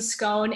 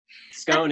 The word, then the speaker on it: scone: Yeah, that's how the British pronounce it.